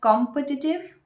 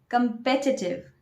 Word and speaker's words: competitive: Do you pronounce it as competitive? If yes, that's a wrong pronunciation. You should say competitive. Competitive. Not competitive exam.